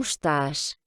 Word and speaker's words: estás: Donc, vous voyez dans ces deux exemples, le E est presque inexistant, hein. Donc, quand on prononce vite, d'ailleurs, on l'entend quasiment pas. Como estás?